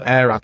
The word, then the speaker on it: Airrack: So Airac, it's spelled AIRRACK.